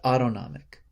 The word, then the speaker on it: autonomic: the autonomic nervous system sort of rhymes with automatic be careful with that but autonomic and then some other